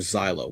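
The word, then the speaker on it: Xylo: Um you follow this character named Zyo, which I love that. I love that name for some reason. And I love the way it's spelled X Y L O.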